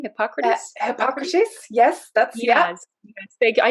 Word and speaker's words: Hippocrates: even uh you know hypocrite how do you pronounce his name hippocrates yes that's yes they i know we're both